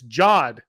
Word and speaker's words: Jod: It's Jod.